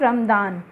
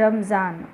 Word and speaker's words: Ramazan: Okay, it's नॉट रमदान, इट इज़ रमज़ान। Okay, रमज़ान कितने कौन सा मंथ होता है इनका, एक मंथ होता है, अभी होकर गया है रमज़ान, रक्षाबंधन के आसपास होता